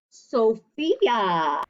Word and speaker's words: Sophia: much princess but yeah sophia ph sounds like an f so sometimes when you